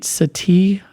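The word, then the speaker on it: Sethi: Sati I think is his name.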